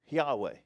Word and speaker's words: Yahweh: sure you've heard it some people have pronounced it and mistaken mistakenly pronounced it as Jehovah, right? So you get the Jehovah Witnesses and people say Jehovah instead of Yahweh, which the pronounce and